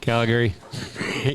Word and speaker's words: Calgary: Calgary. He's got too much of a drawl on the Gary part.